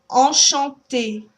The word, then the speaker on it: enchanté: that last word, enchanté, you'll hear the difference between the two first en, because it's in there twice, even though it's spelled differently. Enchanté. And the A sound is not a nasalized sound, so you should feel the difference when you have your hand on your nose between those sounds.